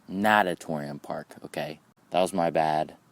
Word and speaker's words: Natatorium Park: name of the park it's not natorium park it's natatorium park okay that was my